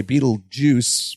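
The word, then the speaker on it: Betelgeuse: just for the title it was it's easier phonetically to say Beetle Juice with the juice but like it's really spelled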